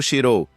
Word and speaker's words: Shirou: Não é Fujimaru Xirou. Xirou a corrigiu. Xirou, Fujimaru, Lúvia repetiu. Sim, Xirou, ele confirmou. Ah, a pronúncia desse nome japonês é tão estranha, comentou Lúvia antes de se virar para rim.